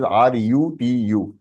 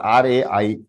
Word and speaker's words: ऋतु: बोले संस्कृत नहीं पढ़ा, बट आई my name is RUTU, नॉट RAITI, Ritu, but अगर हम RIT।